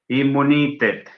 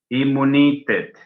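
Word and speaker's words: imunitet: Pero el croata dice, a mí no me venga con doble M. Immunitet. Immunitet.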